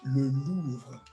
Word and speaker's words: Louvre: So the Louvre is really an amazing place. How do you say the Louvre in French? Le Louvre.